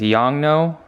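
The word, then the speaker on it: Yongnuo: second flash is the was this young no is how you pronounce it 600 EXR t2 this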